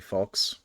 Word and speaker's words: falx: I mean, no, I mispronounced it and called it flax last time. It's actually falx.